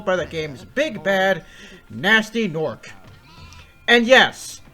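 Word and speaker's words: Gnasty Gnorc: the game's big bad, Nasty Nork. And yes, it's canonically pronounced Nasty Nork, not Gunasty Gunork, and I will die on that hill.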